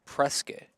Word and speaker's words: Prescott: are a little weird they do called Presque instead of Prescott what you know Prescott Arizona they called Prescott Prescott I kid you not biscuit yeah like not like Dak Prescott that's so weird I'm